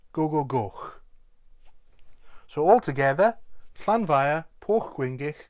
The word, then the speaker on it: gogogoch: And then the last part, very straightforward, except the CH at the end. It's not a ch sound, remember, it's more like the CH in loch. So it's Gogogoch.